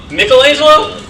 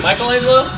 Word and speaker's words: Michelangelo: Michelangelo because oh yeah oh you're supposed to pronounce the name Mikkel Islam but like a lot of Americans say Michelangelo so they actually broke okay thank you erupting